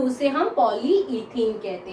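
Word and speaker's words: polyethene: जो पॉलीथीन जो मतलब हम लोग प्लास्टिक की थैली यूज करते हैं उसको हम लोग पॉलीथीन पॉलीथीन पॉलीथीन कहते हैं, लेकिन असल में वो प्रोनाउंस होता है पॉलीइथीन।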